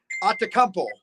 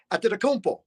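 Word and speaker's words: Antetokounmpo: Or if you mispronounce someone, say say I'm doing Bucks highlights and I say Giannis Atacmpo, you know, got the shot. Well, no, his last name is Atampo.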